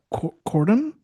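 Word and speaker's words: Kortuem: How would you pronounce that? Uh, Cordom.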